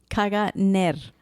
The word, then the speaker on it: Caganer: Okay, how do you pronounce it again? Caganer. Caganer is a regular feature of nativity scenes here